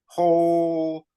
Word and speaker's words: Powell: originally app hoo and you have to think of like Old King Cole pole Appo and the original